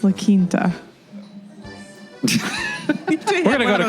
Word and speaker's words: La Quinta: I think it's pronounced La Quinta.